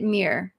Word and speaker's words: Mir: bring up the next I'm assuming I say it Mir but please correct me because I will be the first to disclose that I am not the best at pronouncing names hey Elizabeth higher you got that right awesome got it right